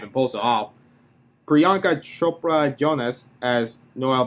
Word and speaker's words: Priyanka Chopra Jonas: Priyanka Chopra Jonas, as Noel B said, just kicks ass in every scene. And yes, I did pronounce it correctly.